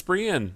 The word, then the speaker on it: Brienne: It's Brienne. Brienne. Oh, I'm sorry. I always call her Brahim.